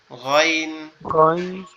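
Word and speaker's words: غين: আইন জি, আইন আর একটা, আর একটা একটু মানে গলার ভিতর, গালের ভিতর থেকে একটু বড় আওয়াজ করে হবে গইন, গইন, গইন এভাবে।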